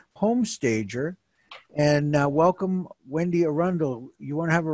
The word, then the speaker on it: Arundel: And welcome, Wendy Arundel. You want to have a rebuttal to that introduction? Yeah, the first rebuttal is it's Arundel.